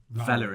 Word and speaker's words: Valorant: Valorant, because it's Valor. Yeah. And then ant.